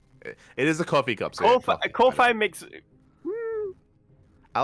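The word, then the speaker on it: Ko-fi: help fund the tournament is that how it's pronounced coffee coffee yeah coffee it is a coffee cup Kofi makes I like Kofi cuof makes sense yeah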